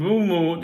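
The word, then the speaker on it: Mbeumo: So Brian and Bumu, it's the emphasis is on the boo. There's a few of them at Old Trafford these days, isn't there? Um, it's it's the silent M at the start throws people, but it's more like a soft huming into the boo.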